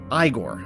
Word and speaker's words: Igor: Even though it looks like Ivan Igor, it's pronounced Igor.